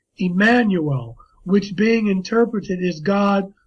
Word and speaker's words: Emmanuel: godly knowledge and expelled je ma nu e el and it's pronounced Emmanuel now that is I